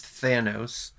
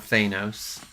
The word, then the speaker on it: Thanos: how to pronounce anything it is Thanos not Thanos whatever we're deferring my